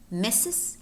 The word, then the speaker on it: Mrs.: restaurant and we have two words in which the letter R is silent namely mrs. mrs.